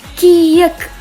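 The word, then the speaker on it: 키읔: Bacanya ca. Ca. Ca. Oke. Next ada kiek.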